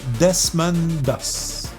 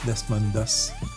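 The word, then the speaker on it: Desmond Doss: Et son nom à ce monsieur-là c'était Desman Dos. Vous ferez des recherches sur Google sur Desmond Dos. Ça s'écrit D E S M O N D espace D O S S S Desmondos.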